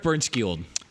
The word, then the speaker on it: Bernskiold: Bernskiold. Bernskiold. Eric. God, I said Aaron again. And you actually pronounced his last name wrong. I got both names wrong. Eric Bernskiold.